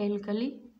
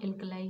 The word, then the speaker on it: alkali: तो ऐसे बेस को स्ट्रॉन्ग बेस या स्ट्रॉन्ग एल्कली कहा जाता है। एल्कलाई या फिर बोलिए एल्कलाई या एल्कली, ठीक है? बेस्ट इसका जो प्रोनाउंसिएशन है वो एल्कलाई होगा, ठीक है?